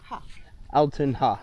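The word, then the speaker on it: Altun Ha: Alonha. Altonha.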